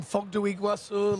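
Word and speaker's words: Foz do Iguaçu: Bob whether it be mega in Brazil in Fogu Iguasu like in in 2013. Fantastic pronunciation by the way that that was really sick.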